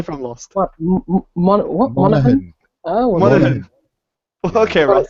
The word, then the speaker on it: Monaghan: Dominic Mahanagan. I can't pronounce his last name, that's why I didn't say it. Ross. Dominic Monaghan or something, maybe? Is that it? Yeah, something like that. You're not Dominic But it's Monaghan. Charlie from Lost.